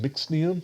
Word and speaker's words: Mxnium: This one's from, I believe it's pronounced Mixnium, MXNIUM. But that also has a